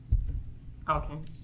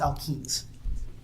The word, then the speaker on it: alkenes: Alkanes. Say again? Alkanes. Can you spell that? ALKANES. No, it's alkenes.